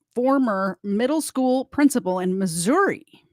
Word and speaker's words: Missouri: Middle School principal in Missouri or Missoura if you're from Missouri I think that's how you pronounce it will spend the rest